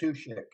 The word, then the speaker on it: Matuschek: Matuschek. Patushek.